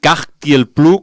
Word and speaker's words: Kaj Tiel Plu: En pro del grup, si teniu Spotify, teclegeu Katie el Plu, si s'escriu amb K, A, J, T i el tal com sona i Plu tal com sona. Cagti el Plu, com dic jo, que m'agrada dir-ho per sonar-vos.